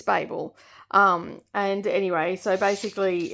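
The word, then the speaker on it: Babel: I do have an answer to how it's pronounced and it's it's bab um and anyway so basically it's definitely that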